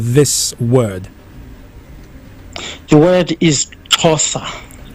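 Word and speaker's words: Xhosa: s a can you give us the proper pronunciation of uh this word the word is tosa tosa all right yes yeah you got it right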